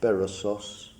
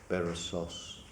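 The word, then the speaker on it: Berossus: Bab bonian historian named basos how would you pronounce it properly Sher I said it right did I I thought it must be Accent on the last syllable barasu who's normally thought to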